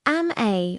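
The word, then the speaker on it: amae: Ame, pronounced am-a, was first described by Japanese psychiatrist Takeo Doi.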